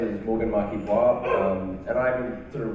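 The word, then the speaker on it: Marquis-Boire: So to my left is Morgan Marquis-Bois, am I pronouncing it right?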